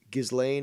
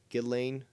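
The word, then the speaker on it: Ghislaine: talk about about uh gizlane or gizlane sorry gillane elaine apparently you're not supposed to pronounce the s maxwell and that whole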